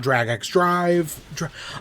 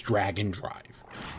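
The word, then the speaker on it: Drag x Drive: Our first one is about DragxDrive. I keep calling it DragxDrive. I know the official pronunciation is Dragon Drive.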